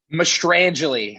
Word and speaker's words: Mostrangelli: Mostrangelli.